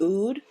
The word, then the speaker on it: oud: So I know, a lot of people use, I think it's pronounced oud, O-U-D, rose, lavender.